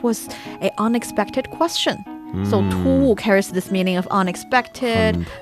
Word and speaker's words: 突兀: Hard to pronounce, isn't it? Just the tones. 突兀. This is abrupt. Abrupt. 突兀, abrupt.